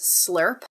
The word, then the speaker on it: SLRP: Do we pronounce this slurp? Yes.